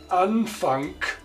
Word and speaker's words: Anfang: Final G, pronounced like K, wie in Anfang, beginning, or after L, where G pronounced like the front ch, freiwillig, voluntary, freiwillig.